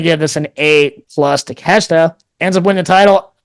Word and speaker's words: Takeshita: I always mispronounce it. Takashita. Takashita. Oh, sorry. Takeshita. Takeshita. There you go.